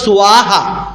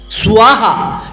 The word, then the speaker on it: স্বাহা: দৈন্তের শৈব ফলা তালিব শৈব ফলা, দৈন্তের শৈব ফলা তায়াকার হয়াকারে হা সুয়াহা, উচ্চারণটা এবার সুয়াহা, ডাব্লিউ আইব কেন, ব আছে বফলা, সুয়াহা।